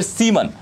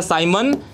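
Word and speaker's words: siemens: Ohm inverse को एक और नाम से जाना जाता है, नाम है उसका साइमन या फिर सीमन, जो भी आप बोलिए। साइमन वैसे प्रोनाउंस किया जाता है साइमन मीटर इनवर्स।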